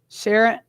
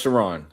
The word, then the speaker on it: Sharon: Sharon, am I saying that right? No, it's pronounced Sharon.